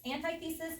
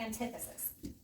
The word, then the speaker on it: antithesis: And our rhetorical device that we're adding is and you can pronounce it 2 ways, antithesis or antithesis.